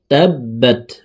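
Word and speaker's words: تبت: তাব্বাত, বার উপরে তাসদিদ আছে। তাসদিদ ওয়ালা হরফ দুইবার উচ্চারণ করিয়া পড়িতে হয়, একবার পূর্বের হরকতের সঙ্গে আর একবার নিজ হরকতের উচ্চারণ হবে।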